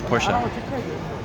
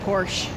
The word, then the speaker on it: Porsche: Ferrari or Porsche oh Porsche I always thought it was just Porsche I've been pronouncing it wrong the whole time yeah me too I